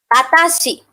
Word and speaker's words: watashi: For me, watashi. Watashi. So wa, then ta, shi. Watashi.